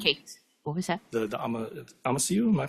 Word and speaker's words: Amasiu: The Amasiu, am I pronouncing that correctly? Amasiu.